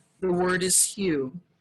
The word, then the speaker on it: HU: ancient mantra a sacred sound the word is hugh it's spelled as hu and pronounced like um like